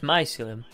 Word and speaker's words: mycelium: say what it's actually gone pretty here it's mycelium nice Liam mycelium here no mycelium it just sounds like you're a kid you can't speak properly saying about saying it's my ceiling it's mycelium but the spider on my Fillion I'm gonna